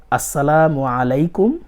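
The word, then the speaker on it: السلام عليكم: সালামটা শুদ্ধভাবে শিখে নিব সালামটা এভাবে দিবেন দিতে পারেন আসসালামু আলাইকুম ওয়ারাহমাতুল্লাহি ওয়াবারাকাতুহু অনেক সময় তাড়াহুড়া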